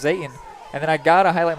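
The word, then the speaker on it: Zetan: their quarterback zayton Zaden spells z-e-t-a-n pronounced Zayn and then I gotta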